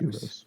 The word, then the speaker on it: Kyros: And I went through like 4 different pronunciations in my head, but I've been saying Kiros recently, so Kiros. Kiros.